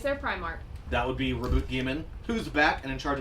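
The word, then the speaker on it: Roboute Guilliman: And then in a recent video, another voice actor pronounced it as Reboot Gaiman, Oh. which is, I don't know how I feel about the E not being silent.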